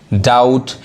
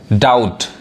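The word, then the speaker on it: doubt: से ट आउट डाउट यहां जो बी है वो क्या है साइलेंट है आने वाले वीडियो में हम साइलेंट वर्ड पढ़ेंगे यानी कौन वर्ड कहां पे वो लेटर नहीं पढ़ाता है वो होता है साइलेंट वर्ड यानी यहां यहां पे जो बी है वो बी नहीं पढ़ाए डाउट देखिए एस ओ यू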